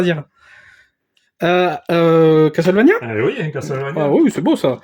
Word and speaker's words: Castlevania: Oui Castlevania. Ah oui c'est beau ça. Oui oui oui oui. Castlevania et non pas Castle.